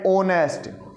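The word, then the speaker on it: honest: sound पर ध्यान देना यह हा लिखा हुआ भी ओ की साउंड प्रोड्यूस कर रहा है क्योंकि ओ से पहले कभी भी हा होगा तो वो साइलेंट हो जाएगा ये है ऑनेस्ट ठीक है तो हम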